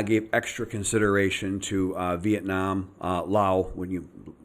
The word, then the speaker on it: Laos: So I gave extra consideration to Vietnam, Laos, a lot of people say Laos, but the S is silent.